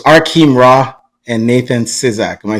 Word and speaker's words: Arkheim Ra: that's still here let me just it's it's our Keem raw this is how you pronounce it hang on bro let me just